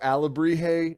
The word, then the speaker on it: alebrije: you but like again i was saying it like a labrie j alabrij like uh jalapenos and vaginas that word sounds